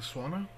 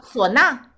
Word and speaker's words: suona: Do you know of any good resources in English regarding the swana? I know I butchered the pronunciation, but... Oh, sona.